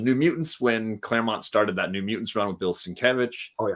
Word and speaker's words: Sienkiewicz: And it included in that is the New Mutants, when Claremont started that New Mutants run with Bill Sienkiewicz. Oh yeah, Sienkiewicz.